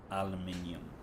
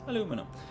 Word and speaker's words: aluminium: So I need aluminium, or as it's spelled here and as they say in the States, aluminum.